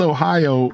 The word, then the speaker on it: Ohio: It looks like it's oi o. Yeah. Like why why why do we pronounce Ohio as three separate syllables? It doesn't even look like it requires that.